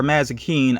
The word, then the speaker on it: Mazikeen: wings, Chloe Decker, and Maze or Mazikeen. I think is how you say the character's name.